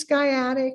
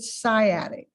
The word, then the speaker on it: sciatic: Now you can pronounce this skyatic or you can pronounce it sciatic kind of like sigh in science or sky as in school.